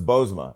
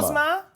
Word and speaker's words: Bozoma: Bozoma, because the second O is silent.